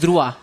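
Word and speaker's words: droit: ड्राइट बोलते बट इटस ध्रुवा हां इट्स ध्रुवा this मीस लॉ इन फ्रेंच सब ड बोलते बट इसका रियल प्रोनंसिएशन फ्रेंच में ध्रुवा है सो इसलिए हम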